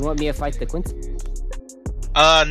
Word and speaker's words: Quincy: is going to be the quincy ceo i think how you pronounce it something like that yeah it's quincy yeah so we'll be